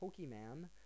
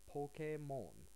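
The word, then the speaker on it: ポケモン: might be hard but instead of uh Pokemon uh this is actually Pokemon Pokemon so next time you're uh looking in the stores you know if in a a really Multicultural area or if you have any friends who are Japanese you know could say like oh yeah the other day you know I learned Pokemon you know it's not pokem man so this is just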